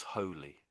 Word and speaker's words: holy: And if it's double L, then it's holly. That's the difference. Holly, holy and holy.